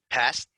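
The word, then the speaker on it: Paszt: say his last name it it's p a p-a-s-z-t so is that paz i think it's just past past i don't know i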